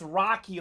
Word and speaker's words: Rocky: Ray was in here earlier telling us it's Rocky, like the great boxer.